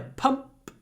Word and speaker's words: pump: English I need a pump to inflate my boat what do I like about this word I like it that we have a p at the end and the P makes the M shorter so if the word